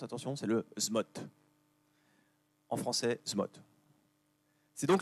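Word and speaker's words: ZMOT: Alors, je vous le prononce, attention, c'est le SMOT.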